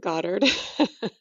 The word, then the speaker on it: Goddard: yeah Godard Gard how do you say your last name you know any of the above but Goddard Goddard Goddard welcome